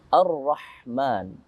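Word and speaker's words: الرحمن: Alif dan lam jika bertemu dengan ra, maka dimasukkan alif lamnya menjadi hilang. Bermakna kita namakan dengan idgham, ay idkhal, memasukkan alif lam tanpa dibaca, yaitu alif lam syamsiyah. Dibacanya ar-ra, bukan al-ra. Begitu.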